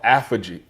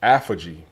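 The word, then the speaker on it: autophagy: 18 hours, it's this thing called apogee. Apogee. It's spelled A-U-T-O-P-H-A-G-Y, apogee.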